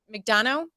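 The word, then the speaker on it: Neal McDonough: to have Neil MC you say his name McDonough here McDonald make Dano yep okay um and I had seen an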